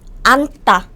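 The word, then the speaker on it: 앉다: this is j sound you don't say ands and this is just n sound oops chimchim is hiding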